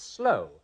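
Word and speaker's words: sloe: I'm going to give it to you because I know you mean what's on the card, but it's slightly differently pronounced. It's slow, S-L-O-E.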